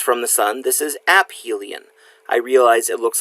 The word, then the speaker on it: aphelion: the Sun this is App Hylian I realize it looks like aphelion it is not you actually pronounce the P it is AB Hylian is the point farthest